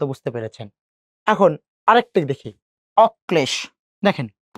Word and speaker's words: অক্লেশ: যদি কর সাথে ল যুক্ত হয়েছে, কর উচ্চারণ কয়বার করব? দুইবার করলাম। আচ্ছা, করেন দুইবার। করলাম। উচ্চারিত দ্বিতীয় বর্ণ কোনটা? এইটা, তার সাথে সেই লটা আমরা যুক্ত করে দিচ্ছি, অক্লেশে।